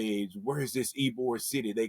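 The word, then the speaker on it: Ybor: the first thing they say is where's this Eore City? They call it some people call it Wbor, you know, because it's spelled Y B O R, but it's pronounced Eore, right?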